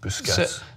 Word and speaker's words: Busquets: Al salty biscuits comment that happened I Sergio Busquets it's pronounced boo success salty biscuits coming is because Barcelona mentioned in